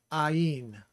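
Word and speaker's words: עַיִן: And the way that I remember it is because the first part of pronouncing this is I, Ayin.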